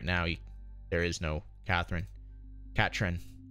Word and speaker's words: Catherine: there is no Catherine Catrin as she's supposed to be pronounced I think iPhone kya